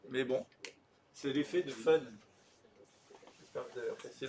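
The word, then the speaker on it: foehn: bon, c'est l'effet de fun. J'espère que vous avez apprécié le jeu de mots. Effet de fun, ça s'écrit F-O-E-H-N. L'effet de fun, c'est un truc qu'on a déjà vu.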